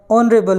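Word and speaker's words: honorable: मैन लिखा हुआ है और ऑनरेबल के प्रोनाउंसिएशन में वोवल साउंड आने के कारण हम यहाँ पे आर्टिकल एन का यूज़ करेंगे।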